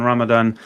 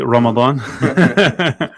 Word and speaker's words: Ramadan: We are live today in the studio after a month off in Ramadan. Uh we are but I said that like such a white man there. I'll say it properly. Ramadan.